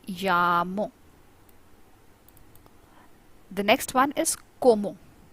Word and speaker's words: como: The next one is como. C sounds pronounced. C makes a sound of k in Spanish, so it is como.